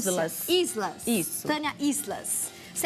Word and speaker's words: Islas: Isla, tá certa a pronúncia? Islas.